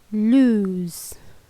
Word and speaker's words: lose: Dan untuk bunyi huruf O itu berbunyi seperti huruf U bunyinya. Dan agak dipanjangkan sedikit. Jadi bacaannya seperti lose. Dan huruf S ini dilafalkan menyerupai bunyi Z.